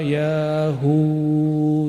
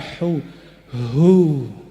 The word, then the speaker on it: Ya Huu: para imam kita berdoa ya Hu yahu Coba baca sama-sama yaahu ya Hu ya Hu bukan hu hu ada merindingnya enggak tadi Kalau bacanya dari dalam itu merinding karena itu nama Allah subhanahu